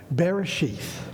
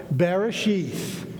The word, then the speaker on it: Bereshit: right there Bereshit and this is how it's pronounced so they don't usually have vowels in the original so we're just imagining the vowels but they know how to pronounce it so Barry sheathe is this I want you to say it with me so you now have learned some Hebrew here we go Bereshit one more time Bereshit see now you